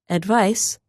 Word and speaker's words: advice: form of the word advice is written with the letter c which is said like s but the verb advise